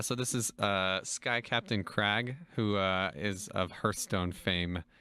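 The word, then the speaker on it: Kragg: Emphasis on the R. It's spelled with like 6 or 7 R's.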